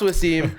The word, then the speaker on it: Wvssim: It's pronounced Wvssim.